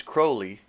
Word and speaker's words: Crowley: name is holy or his name is crowley and it rhymes with holy and he said something